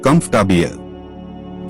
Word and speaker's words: comfortable: Comfortable. The middle or is not clearly spoken. It sounds like comfortable.